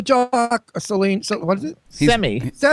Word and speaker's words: Semi: Semi. It's pronounced semi.